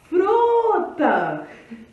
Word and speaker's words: fruta: E aí, vocês perceberam que o fru, galera, foi a sílaba que eu falei mais forte. Fruta! Então, o fru aqui, no caso, é a sílaba mais forte da palavra fruta.